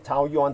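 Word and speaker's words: Taoyuan: City that's spelled t-a-u-o like Tao uh Yuan like the Chinese currency Yuan y-u-a-n Tau yon all one word uh t-a-o-y-u-a-n Tau Yuan City it left two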